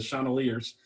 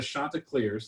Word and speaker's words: Chanticleers: in the game said the chandeliers uh but where the shanta clears the crafty rooster from